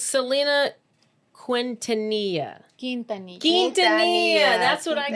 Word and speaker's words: Quintanilla: Quintanilla. Quintanilla. That's what I The got. U is silent.